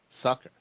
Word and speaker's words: succor: And what is it? Sucker. Yeah. Sucker. It's like a French word.